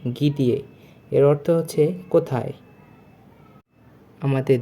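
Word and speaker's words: где: প্রথম অ্যালফাবেটটি হচ্ছে গিয়ে। দ্বিতীয়টি দে। তৃতীয়টি ইয়ে। মানে গি দিয়ে। উচ্চারণটি হবে গি দিয়ে।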